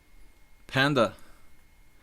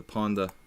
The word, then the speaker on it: Ponda: Panda. Ponda. I call him... See, I even mispronounced my own mascot. The Ponda. I call him Panda. Just not... Hey. It's Ponda. Alright?